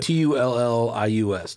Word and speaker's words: Tullius: Spell it. T-U-L-L-I-U-S.